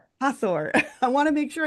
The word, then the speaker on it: Hathor: Hatheror Hatheror. How do you pronounce it again? Do it. Hor. Hathor.